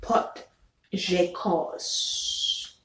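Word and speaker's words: potjiekos: it looks like okay um number nine is pot j cos okay which is about p o t j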